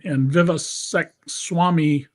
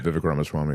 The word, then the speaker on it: Ramaswamy: Elon Musk and Vivek Swamy, mispronouncing his name. Yeah, right, Vivek Ramaswamy, yeah.